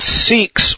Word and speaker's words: Sikhs: and that is the Sikhs. The Sikhs, or Sikhs, sometimes it is pronounced, but if I said 6, you would think I was saying the number, and that's a little confusing.